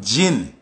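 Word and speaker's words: jin: of the demon them gin spell j i n but it pronounce g i n just like the liquor we drink you understand say so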